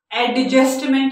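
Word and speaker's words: adjustment: इसी तरह एडजस्टमेंट नहीं होता, एडजस्टमेंट होता है, एडजस्टमेंट। क्यों? डी और जे टुगेदर, तो हमने डी को प्रोनाउंस नहीं करना।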